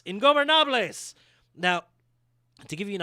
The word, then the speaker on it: Ingobernables: God damn it, I worked on that pronunciation. Ingobernables.